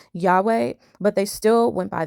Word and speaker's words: Yahweh: Now, the Russellites were aware that the correct pronunciation for the Tetragrammaton was Yahweh, but they still went by their own logic and called the Most High Jehovah.